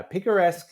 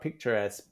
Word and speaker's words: picaresque: pick a rest yeah picaresque is a just uh no not picturesque picaresque um how do you